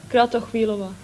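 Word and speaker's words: Kratochvílová: Kratochvilova.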